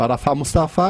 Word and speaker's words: Arafat Mustafá: Como vocês viram, entrevistamos hoje o Arafat Mustafa e o Dr. Abdelhad Abdelgafar. E a pronúncia minha tá boa?